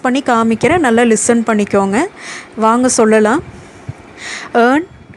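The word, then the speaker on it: vingt: நம்ம 20 சொல்லும்போது VING டீயை வந்து நம்ம சைலன்ஸை வச்சுருக்கோம், அப்போ வேங்.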